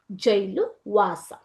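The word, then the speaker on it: gaol: ನೀವು ಕನ್ಫೈನ್ಮೆಂಟ್ ಅಂತಂದ್ರೆ ಏನು ಜೈಲುವಾಸ as complete as ಎನಿ ಜೈಲ್ ಈಜಿಎಓಎಲ್ ಅನ್ನೋದನ್ನ ನಾವು ಜೈಲ್ ಅಂತ ಉಚ್ಚಾರ ಮಾಡಬೇಕು ಮಕ್ಕಳೇ ಯಾಕೆ ಅಂತಂದ್ರೆ this is old English okay so wear ಜೈಲ್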